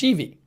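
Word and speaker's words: Schieve: Christian Raymer says Mayor Sheevy's last name is pronounced Sheevy.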